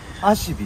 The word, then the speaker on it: 馬酔木: 馬が酔う木と書いてアシビと言います。